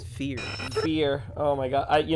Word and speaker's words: feAR: and this is oh i'm bobby joey also mispronounced the name of his own show it's fear beer oh my god you know i'm i'm